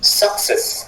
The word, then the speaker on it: success: Success en anglais c'est success. On insiste toujours sur le cesse de la fin.